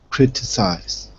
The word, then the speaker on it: criticize: first one good criticis critize thir criticize criticize the Third one okay let me hear